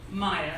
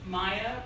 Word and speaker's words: Mia: Maya. So what I like to tell the business world, because they really like this, it's on my LinkedIn, so it's Maya, pronounced like Angelou, spelled like Pharaoh.